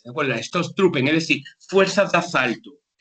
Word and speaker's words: Stoßtruppen: Obviamente, como pongo aquí, se emplearon las fuerzas de ataque, las Stoßtruppen, ¿de acuerdo? Esta palabrita aquí es una doble S, una S. Se pronuncia como una S, ¿de acuerdo? Las Stoßtruppen, es decir, fuerzas de asalto.